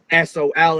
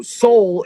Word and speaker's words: Sól: which Seoul means sun it's pronounced the same but it's uh Sol instead of s-o-u-l so Seoul in Norse mythology is